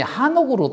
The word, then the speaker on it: 에녹: 에녹도 온문에 보면 발음이 한옥으로 되어 있습니다. 한옥. 에녹을 한옥이라고 불러도 아 틀린 이름이 아니구나라고 그렇게 우리가 인지해야 할 것입니다.